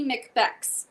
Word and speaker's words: Lady Macbex: My TikTok is Lady Macbex. So spelled like Lady Macbeth, but that's cute.